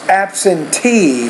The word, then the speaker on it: absentee: No, it's absentee. So the last syllable is stressed, which means, Ola, it needs to be longer, louder, clearer, and also higher pitched.